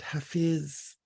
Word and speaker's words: Hafiz: It's a little excerpt from a Persian poet named Hafiz, sometimes pronounced Hafez.